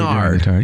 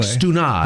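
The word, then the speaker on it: Stannard: Standards Brigade. So that's how we pronounce it. He pronounced it a little differently. Stenard. Yeah. That's like Stunard.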